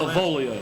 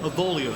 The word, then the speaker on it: Avolio: Avolio. Avolio. Spell it for us.